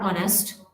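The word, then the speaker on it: honest: letter H है वो कुछ वर्ड्स ऐसे है जिनमें लेटर एच जो है ये साइलेंट होता है इनको प्रोनाउंस नहीं किया जाता है जसे नबल ऑनर आर ऑनेस्ट इस तरह से इन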